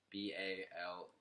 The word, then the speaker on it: bologna: But I also thought that bologna was spelled like it sounds. Yeah, me too. Baloney.